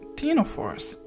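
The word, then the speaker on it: ctenophore: but they're not they they called Tino force with a silent sea or com jellies com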